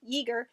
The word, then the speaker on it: Yeager: Wars name ever, because I keep wanting to call him Jaeger, and I'm pretty sure everyone's going to want to keep calling him Jaeger, but Yeager, it's like eager, only ye old eagerness.